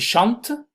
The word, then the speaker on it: chantent: Ils chantent, hasta la T, pero ENT no, chante, ils chantent. Ils prennent, hasta la N. Ils peuvent, hasta la V. ENT, por favor, no se pronuncia cuando es un verbo.